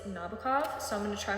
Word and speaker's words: Nabokov: I realize that his name isn't pronounced Nebro. It's Nabokov.